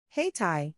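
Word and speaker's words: Hayti: Haiti, pronounced Haiti, also called Haiti District, is the historic African-American community that is now part of the city of Durham, North Carolina.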